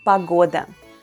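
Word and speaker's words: погода: is pagoda in russian once again the letter o is unstressed and pronounced as a pagoda a common expression in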